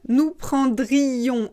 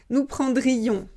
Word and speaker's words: prendrions: il prendrait elle prendrait on prendrait nous attention nous prendrions on doit prononcer lui nous prendrions si vous ne prononcez pas le ici vous